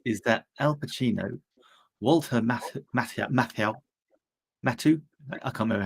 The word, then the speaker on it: Matthau: Is that Al Pacino, Walter Matthau?